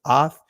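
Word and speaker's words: אות: And so just real quick, this is the Hebrew dictionary definition of the word sign, which is ath. In the Israeli, it's pronounced oath, right?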